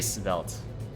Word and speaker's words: svelte: how do you say svelte it's belt it's like felt right but then you put like a little a little spice at the start of it and spelt i think these seem to be